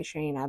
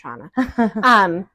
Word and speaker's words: Shauna: I expected to, so I always want to say Shana, but it's Shauna. But your energy is always just so fun too, and so watch for Shauna events and gosh knows what else.